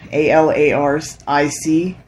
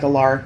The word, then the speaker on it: Alaric: be like i guess the traditional uh pronunciation is alaric but i like alark better and so if we have